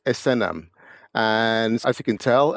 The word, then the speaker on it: Esenam: is pronounced and the surname is Asam and as you can